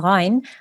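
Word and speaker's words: غين: the sound comes from, you need to know that the ghain comes from the top of the throat.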